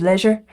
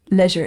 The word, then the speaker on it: leisure: earn his day of leisure leisure in the British pronunciation not the American Leisure of course because it has to rhyme with pleasure but I caught that